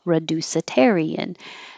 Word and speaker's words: reducitarian: a new word reducitarian well it could be reduced but it's not stressed so I put reducitarian someone who chooses to